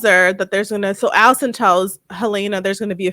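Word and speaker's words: Helaena: No, it's Helena because it's Lena.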